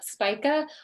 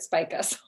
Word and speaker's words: Spica: that speaker spike yeah s-s-p-i-c-a spica or i don't know i mean it could be pronounced differently i suppose but i've always heard it spike us i'm going with that and uh it's the